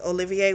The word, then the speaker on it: Olivier: And so the way we actually would say his name is Olivier, which I like, by the way.